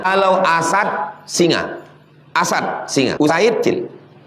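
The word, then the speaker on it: أُسَيْد: muslimun 343 waan abi usaid cara membacanya bidammil hamzah u wa fathis sin sa jangan baca asid asid itu asam asam asid usaid kalau asad singa.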